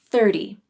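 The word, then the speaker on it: thirty: the number 30 30 this word has the thr cluster like 3 but it also has a T sound the T in 30 is most commonly pronounced with a flap T which is similar to a light D sound I've discussed the flap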